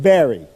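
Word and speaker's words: Barre: They pronounce it Barry. B-A-R-R-E, but they pronounce it Barry, Free Will Church.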